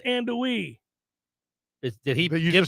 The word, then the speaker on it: andouille: How long is it going to take you guys to learn how to pronounce andouille?